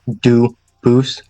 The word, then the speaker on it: Dubus: get your name straight I know a family with that the same exact spelling in American they do pronounce it dubus but you said you pronounce it duus as the original do boo as the original French French y very well do